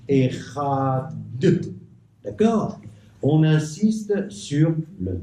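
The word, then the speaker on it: אחד: Echad. D'accord? On insiste sur le Dalet. On insiste sur le Dalet pour que, Chaz v'Chalila, on ne puisse pas croire qu'il s'agit d'un Resh.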